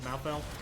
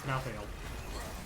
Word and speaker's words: Malthael: I'm trying to say Malthael, but I'm from West Virginia and I speak quickly to disguise my accent, so it kind of comes out as 2 syllables, Malthael, but it's Malthael.